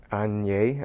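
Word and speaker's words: Asnières: And AS is where they make all of their trunks in Anye, I think it's pronounced.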